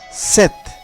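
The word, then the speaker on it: sept: তারপর রয়েছে সেত। এই সেত শব্দের বানানের শেষে পে এবং তে আছে, এখানে পে উজ্জ থাকবে কিন্তু তের উচ্চারণ হবে, তাহলে উচ্চারণ কি? সেত।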